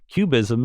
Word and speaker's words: QBism: read my book yet, Cubism is spelled with a Q, not with a C. So it's not the art movement.